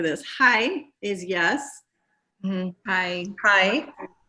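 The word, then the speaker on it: はい: Hi. Just like hi, but different.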